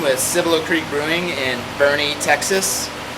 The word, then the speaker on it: Boerne: Cibolo Creek brewing in Bernie Texas spelled b-o-e-r-n-e but pronounced like the name Bernie as I'm learning that's